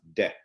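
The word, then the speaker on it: δέ: Again, it's untranslatable, but it creates a feeling called or pronounced de.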